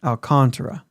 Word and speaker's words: Alcantara: uh Flores Robert Flores I think he says Alcantara of course rolls and everything yeah but I think it's alcantra it is alcantra yeah the emphasis is